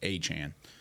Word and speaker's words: Achane: oh yeah, by the way, my name is pronounced Achane.